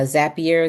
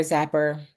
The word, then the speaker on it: Zapier: using uh this technology uh Zapier, Zapper, depending on how you want to pronounce it.